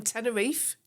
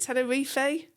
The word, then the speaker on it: Tenerife: In Tenerife? Is it Tenerifey? No, Tenerife's fine.